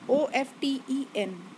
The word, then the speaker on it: often: OFTEN, but T is silent here, that's why we pronounce it like often, right?